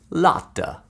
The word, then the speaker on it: Lotta: If you're wondering how to pronounce my name, just channel your inner Italian and say the name Carlotta, but leave out the first part. Lotta.